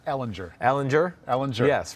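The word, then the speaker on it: Ehlinger: school texas yeah sam ellinger ellenger allenger ellen yes right i've heard bo i you know i hope i'm right i think i'm right i would say the hard g or j sound too yeah i think i'm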